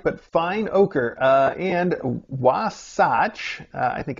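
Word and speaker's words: Oquirrh: it o oer o Oaker that's what I would say but you've included a guide that says you just say ochre that's not what it looks like but fine ochre uh and wasach I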